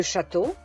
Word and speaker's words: château: Notate che AU si pronuncia O, ma anche EAU si pronuncia O. Comme par exemple le château, les châteaux, l'agneau, les agneaux, le gâteau, les gâteaux.